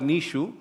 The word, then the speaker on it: Nietzsche: Friedrich Nietzsche, pronounced as Nietzsche, idea of the Übermensch also embodies this principle, where individuals must dissolve old morality and conditioning to evolve into self-created beings.